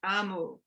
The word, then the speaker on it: Omu: you thank you amo by ogemora omu is pronounced amu it's the igloo igbo term for queen on